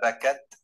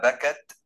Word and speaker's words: بَكَتْ: So you must say فَمَا بَكَتْ عَلَيْهِمُ السَّمَاءُ, فَمَا بَكَتْ عَلَيْهِمُ السَّمَاءُ, if you can hear that. All right, you have to like hold it a little bit.